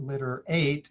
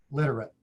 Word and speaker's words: literate: syllable instead of eight it's not litter eight it's flex it to a schwa literate another thing that happens